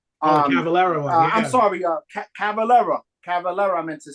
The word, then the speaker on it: Cavalera: I'm sorry, Cavalera.